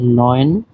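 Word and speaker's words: neun: 9 কে বলা হয় নয়েন এবং 10 কে বলা হয় সেন। আপনারা এই উচ্চারণগুলি সহ দেখবেন।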